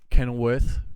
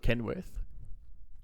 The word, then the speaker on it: Kenilworth: Yeah, let's speaking get of him facts, mate, we got Kenilworth Stadium wrong. I called it Kenworth.